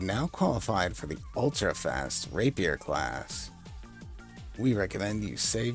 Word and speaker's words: Rapier: Some people will pronounce this word Rapier, like it's because it's French in origin or something, which it is, but it's still pronounced Rapier.